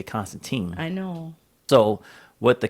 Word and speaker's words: Constantine: introduces it was Joanna, Joanna Constantine. as they pronounce it. I always say Constantine.